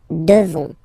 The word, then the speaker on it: devons: Classic ending O-N-S for nous. Okay? You just pronounce this on, O-N, this nasal. Okay? And then the S, final S is not pronounced. Nous devons.